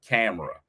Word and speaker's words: Tamara: her name she's like it's Tamara like Tamera so now every time I say her name I gotta say Tamara like camera I do the same